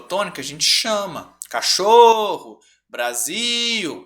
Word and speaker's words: Brasil: gente tiver dúvidas sobre qual que é a sílaba tônica a gente chama cachorro Brasil e não brázio né Natal e não Natal certo aí a